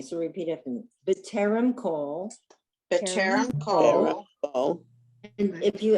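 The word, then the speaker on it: כל: And if you ask why is it not kal, I said it last week and I'll say it until I'm blue in the face. It's irregular. There are certain words in Hebrew that are not pronounced with the kamatz as an ah. They're pronounced with or. And this is one of them.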